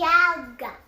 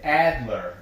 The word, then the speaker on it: Adler: Die Alder. Die Alder. Alder. Alder. I'm pretty sure. Die Alder. Yeah, the Adler. I'm sorry, the Adler.